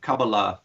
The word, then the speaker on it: Kabbalah: who talk about the Cabal and am i pronouncing it correctly me Kabbalah Kabbalah okay so they're talking about the Kabbalah